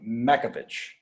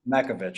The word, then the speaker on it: Makovich: I can never pronounce your last name, Makovich. It's close. That's how you would pronounce it in Czech. So that's great. Makovich.